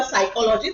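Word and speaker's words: psychology: अगर हम for example English में होगा साइकोलॉजी तो साइकोलॉजी का स्पेलिंग कहां से शुरू होता है पीएस वाय राइट पर अगर मुझे ये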